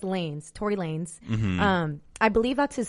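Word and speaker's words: Tory Lanez: on yeah can I first ask so it's Tori Lanes not like Tor Lanz I thought it was Lanes that's like I feel like that's how you pronounce it in Spanish like lanis but it's Lanes Tory Lanes um I believe that's his stage name I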